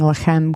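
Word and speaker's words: לחם: I know I'm pronouncing Lachem correctly because actually the city Bethlehem, there's two cities Bethlehem. There's one that is Bethlehem, and it's one word. And there's another one that is Bet Lachem, which is house of bread.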